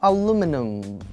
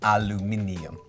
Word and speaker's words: aluminium: many sounds aluminum aluminum aluminum aluminum Why not aluminum but like aluminum uh this is actually to